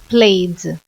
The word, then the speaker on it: played: passado do verbo Play played a pronúncia é como se fosse só o d tá bom they played